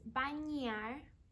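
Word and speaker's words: bañar: see we have this accent over the in so it's banyar sleeping is dormir and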